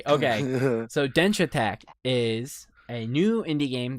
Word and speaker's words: Denshattack: I also know I think the way you're supposed to say it is dench attack like really fast because it sounds like the word dash attack because you're moving you're quickly you're dashing around. I think it's supposed to be a play on words.